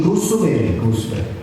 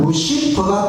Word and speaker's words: 루시퍼: 보니까 루스벨이라고 번역을 했는데, 지금은 영어 그 번역이 루스벨보다는 루시퍼가 더 발음이 더 맞겠다, 이렇게 해서 이제 루시퍼로 바꾸기로 우리 교회에서 그렇게 결정을 했습니다.